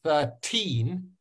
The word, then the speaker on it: thirteen: say 13 and actually it's all about stress so when I say the number one three thirteen do I hit the first syllable or the second syllable which one of my which one is noisier thirteen the first one or the second one can you choose which